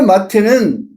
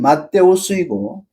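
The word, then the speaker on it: Ματθαῖος: 근데 마태는 엘라 성계는 마데오스이고 이브리어 이름으로는 마티아예요.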